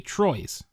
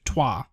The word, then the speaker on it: Troyes: a friend purchased me Troy's sorry it spelled troy st ro y es which is actually pronounced tois i found that out named after a French city this game is a